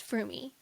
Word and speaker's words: Fromme: Lynette Alice Froomie. A lot of people don't pronounce the E, but according to her biographer, the E is not silent.